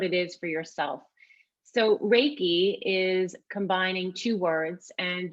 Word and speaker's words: reiki: is for yourself so reiki is combining two words and just to pronounce it is rey like the sun and ki which is energy and so if we